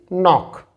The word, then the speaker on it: knock: K is silent here, so it is knock.